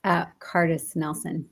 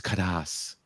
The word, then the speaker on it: Kardas-Nelson: It's not phonetic. So I appreciate I didn't know if it was like a special pronoun. No, it's Kadas. The R is silent.